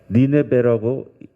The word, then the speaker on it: 니네베: 니네베라고 이렇게 발음합니다.